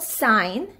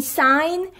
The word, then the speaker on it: sign: we have g n when g and are together g is silent and we only pronounce n but there is a condition g and must be in the same syllable like the word sine in sine we only